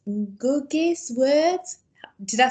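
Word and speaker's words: Ngũgĩ: It's Ngugi's words. Did I say that right? So how do I say it right? Let's get that right first. I think it's Ngugi. Yeah, Ngugi, that's it.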